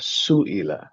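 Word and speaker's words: سُئِلَ: Yang atas sa'ala, yang bawah su'ila.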